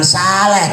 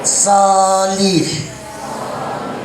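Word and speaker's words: صالح: Jadi bacanya jangan saleh tapi solih karena ini sod itu fathah itu nggak ada ininya.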